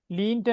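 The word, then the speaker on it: leant: டிரம்ட் டிரம்ட் என்று சொல்லணும் இத நாம டிரட் என்று சொல்லுவோம் லீன்ட நாம லென்த்ன்னு சொல்லுவோம் பக்கல பிராக்கெட்ட நான் உங்களுக்கு உச்சரிப்பையும் போட்டு தாரேன் லென்ட்ன்னு சொல்லுவோம் அவ்ளவுதான் அப்ப லேர்ன் லேன்ட் ட்ரீம்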